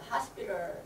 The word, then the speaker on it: hospital: 자, 우리 hospital, T-A-L, hospital 하고 말씀을 많이 하신데 hospital 할 때 이 T가 리을, 한국 리을 자음으로 자음 리을 발음으로 바꿔서 hospital 이렇게 할 거예요.